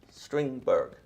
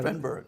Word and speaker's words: Strindberg: mental, can't be here, and that is Peter Stringberg. Yes. Help me pronounce it right. Got it. Strindberg.